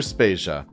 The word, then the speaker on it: Spacia: Vader and I'm Spacia we're brought to you by anonymous dinosaur and rhymes with Asia it's time to appreciate